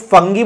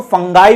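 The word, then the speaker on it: fungi: तो फंजाई को अलग अलग तरीके से प्रोनाउंस किया जाता है, तो कई जगह पे इसको फंजाई बोलते हैं, इंडिया में हम लोग फंगी बोलते हैं या फिर इसको फंगाई भी बोलते हैं।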